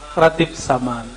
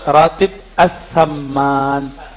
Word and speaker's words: Ratib As-Saman: Ya, yang pertama tadi tentang Ratib Saman. Sebenarnya cara bacanya Ratib As-Saman. As-Saman ya.